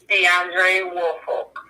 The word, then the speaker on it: Deandre Woolfolk: Today we have Kayla McGuire, the girlfriend of, please pronounce his name again. Deandre Woolfolk.